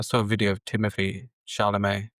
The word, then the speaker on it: Chalamet: Like, I saw a video of Timothy Chalamet. Is that how you pronounce his name? Yes, He's by just like, Timothée yes, Chalamet.